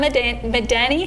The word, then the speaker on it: Madani: 13 years I had to pass all So if you guys are just joining us, we're with Madani.